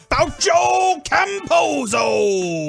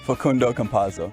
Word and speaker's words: Facundo Campazzo: Faucio Camposo.